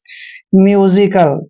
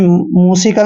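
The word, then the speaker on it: musical: ज क्यों पड़ा है क्योंकि जब भी एस के बाद आई आता है और एस से पहले यू आता है तो एस का उच्चारण ज करते हैं म्यूजिकल ठीक है ना आपने मजिकल नहीं पढ़ना है म्यूजिकल पढ़ना है नेक्स्ट वर्ड देखिए एल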